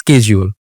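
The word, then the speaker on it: schedule: For example আপনি যদি একটা ওয়ার্ড আছে শিডিউল, British people they are saying শিডিউল, ছোটবেলা থেকে আমরা শিখছি শিডিউল, বড় হয়ে আপনি জানতে পারছেন স্কেজিউল, আমেরিকানরা বলতেছে স্কেজিউল। এখন প্রোনাউন্সিয়েশন তো দুইটা হলো, রাইট? তা আপনি কোনটাকে ভুল বলবেন, কোনটাকে ঠিক বলবেন? দুইটাই কিন্তু ঠিক, একটা আমেরিকান অ্যাকসেন্টে ঠিক, একটা ব্রিটিশ অ্যাকসেন্টে ঠিক।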